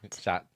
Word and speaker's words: chat: How do you say cat in French? Chat. Shot. No, you don't Like, pronounce like the you T.